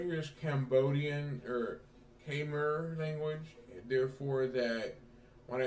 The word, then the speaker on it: Khmer: can't pronounce that name it says the k and i will struggle with it it's k-mer it's cable language so